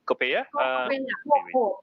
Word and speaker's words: COCOPEA: COCOPEA?